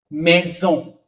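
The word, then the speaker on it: maison: यहां पे आते हैं मेजो दो वोवेल के बीच में सिंगल एस ज का साउंड देगा मेजो एक कोल ठीक है इ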